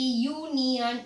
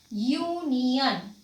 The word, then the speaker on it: union: University, union, it is beginning with a consonant sound, that is YU. So the sound what is coming here, when we are telling about union, actually it is a vowel, but the sound is coming YU.